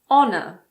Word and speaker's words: honor: For example, air, honest, honor, hour. In American English, the H in the words herb and herbal also aren't pronounced.